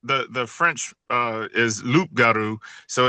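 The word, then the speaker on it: loup-garou: Can you spell it? Sure. So, so the French the the French uh, is Luparu.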